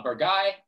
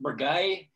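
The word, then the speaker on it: Bourgueil: is bollocks it's pronounced bragai it's like one of those it just kind of gets lost in your throat and becomes something else i apologize to the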